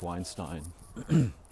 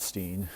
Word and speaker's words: Weinstein: was listening to Eric Weinstein and that is the way the correct way to pronounce it's Stein not Steen in this case just to help you